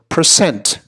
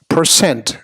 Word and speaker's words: percent: the component parts and the emphasis really ought to be on the second syllable so percent percent so successes ninety-nine percent